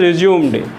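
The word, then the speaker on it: résumé: हैं the current has रिज्यूम्ड, यानी current वहीं आएगा जहाँ पे पहले आता था ये। और ये है रिज्यूमे, प्रोनाउंसिएशन केवल चेंज है, तो है रिकॉर्ड ऑफ योर स्टडी।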